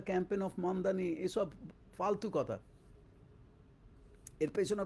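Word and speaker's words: Mamdani: মামদানি বলছে মামদানী বলছে মানে ঠিকমত সঠিকভাবে মামদামি মামদামি হ্যা মানে কম দামী বেশি দামী মামদামি এরকম আর কি হাস্যকর ব্যাপার।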